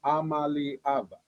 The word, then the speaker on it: Iamaleava: It's Nico Iamaleava. Okay. Iamaleava, right? Iamaleava? I mean, I believe so. I mean, I kind of go more E and emphasize that.